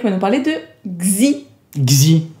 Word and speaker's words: Xi: Xi. C'est comme ça que ça se prononce.